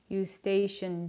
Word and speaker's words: Eustachian: tube that's how you say it thank you eustachian tube cool thank you learning something new so